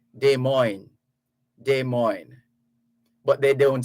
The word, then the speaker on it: Des Moines: So because it's French, if you're going to pronounce it the French way, you would say Des Moines. Des Moines. The Americans just say Des Moines.